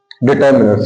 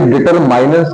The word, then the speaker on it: determiners: इसे डिटरमाइनर्स कभी नहीं पढ़ा जाता है, हमेशा क्या पढ़ते हैं अपन? डिटरमिनर्स पढ़ते हैं।